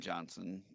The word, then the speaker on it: Johnson: quit anyway and then johnson j-o-h-n-s-o-n but so the h in johnson is silent or within or whistle